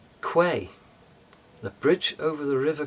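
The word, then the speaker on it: Kwai: Well, it's the bridge over the river Quai. Correct pronunciation. Quay.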